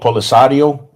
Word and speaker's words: Polisario: I want to make sure I pronounce um correct. Um I think it's called Polisario.